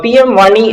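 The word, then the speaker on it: PM-WANI: answer right so uh pm one e i mean uh it's pronounced like money but it stands for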